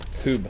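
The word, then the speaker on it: Huub: Hube? Hoob. Hoob like boob.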